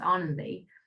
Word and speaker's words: Ananthi: It's spelled Ananthi, and that's how English people would say it, but it's pronounced Anandi.